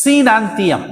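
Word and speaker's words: coenanthium: one cnn theorem now see the spelling c o e n a n but o is a silent c c e c we have to pronounce like that c nantium is the third type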